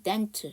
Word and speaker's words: dental: 자, 그 다음에 5번째, dental. 마찬가지로 A가 묵음이에요.